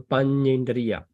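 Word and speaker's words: paññindriya: And the last one, Panyendriya. So can you pronounce? Panyendriya. Panyendriya. Yeah. Panyendriya. Right. So like my name here, Panya, right? Panya. So Panyendriya, Panya and Indriya.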